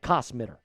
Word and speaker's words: Kosmider: Now, like I said, Nick Kosmider, I'm going to say that, Kosmider, that's how you say it, claims the Denver Broncos should buy.